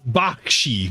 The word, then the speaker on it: Bakshi: Ralph Bosch or I always mispronounced his name. Wizards movie. It is a fever dream at 100%. It's a Ralph Bakshi Bakshi.